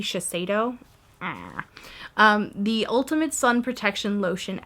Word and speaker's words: Shiseido: This is the, I believe it's Shiseido is how you say, but it might be Shiseido.